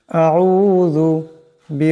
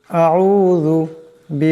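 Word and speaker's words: أعوذ: এমন করে আউজু আউজু এখানে জাল আছে আওয়াজটাকে নরম করে পড়তে হবে আউজু বিরব্বি নাস বি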